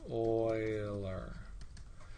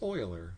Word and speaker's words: Euler: it down here oiler it's pronounced oiler now you have to be careful because if you mispronounce euler three times he will